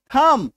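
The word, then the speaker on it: thumb: बी के ठीक पहले जब एम हो तो बी चुपचाप हो जाएगा।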